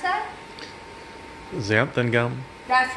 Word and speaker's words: xanthan: How do you pronounce that? Xanthan gum.